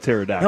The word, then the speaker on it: pterodactyl: is silent with pterodactyl.